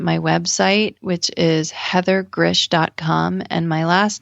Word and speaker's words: Grzych: find me on my website which is Heather Gris calm and my last name is spelled g r z y c h so